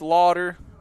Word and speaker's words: Lauder: Kyle, I've known you for a while, but you still can't pronounce my last name right. Lauder. There you go, like Fort Lauderdale, Florida.